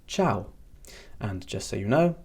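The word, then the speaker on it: ċaw: Ciao. Ciao. Ciao. And this means bye. And you may notice that that sounds exactly like the way Italian people say goodbye. Obviously, the spelling is a little bit different, but it is indeed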